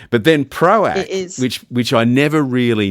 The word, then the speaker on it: ProAc: hoping that proac is how you pronounce it like cuz a lot of people turn it into proase or proarch proc. Yeah. But but it is it is it is proac.